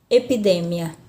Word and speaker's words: epidemia: aqui a sílaba tônica a mesma coisa acontece aqui na palavra epidemia na língua portuguesa epidemia ainda espanhola epidemia euforia na língua portuguesa nas